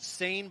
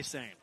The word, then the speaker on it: seine: And we should note out, too, that we pronounce it Seine boat. We know it's like spelled like the River Seine in France. We say Seine.